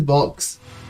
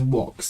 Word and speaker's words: Vox: of this episode is what everyone says box but you know in Latin the V letter is pronounced with a worse sound so this is walks and I will not